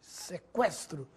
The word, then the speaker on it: sequestro: nestas palavras que frequente sequestro delinquente Agora sim você ouviu o som da letra U Veja a diferença no